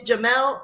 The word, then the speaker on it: Jamal: Friends, if you have not met Jamal, he, first of all, is Jamel, not Jamal. We're going to say it right. Yes.